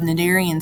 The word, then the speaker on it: cnidarian: the greek word nindos again the c is still silent and that means stinging